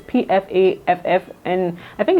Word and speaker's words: Pfaff: And I do have an old machine, which is the brand name is it Pfaff, or I don't know how to pronounce it. It's Pfaff, and I think it's a German brand, and it's very durable.